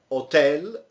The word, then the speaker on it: hotel: whiskey weekend email computer hotel don't pronounce the H Sport film bar in